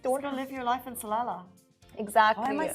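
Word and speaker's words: Salalah: don't you just don't live your life in salala exactly why am I saying it salala I think you said it right salala salala don't live your life in a on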